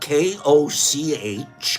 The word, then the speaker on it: Koch: In 1881, while her husband was working in the laboratory of the German physician and microbiologist Robert Koch, that's spelled K-O-C-H, Koch, he struggled with performing experiments on gelatin